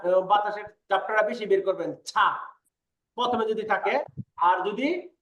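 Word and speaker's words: 차: আমরা যে চা খাই ওটা উচ্চারণ ছা, ছা, ছা। প্রথমে থাকলে বলতে হবে ছা।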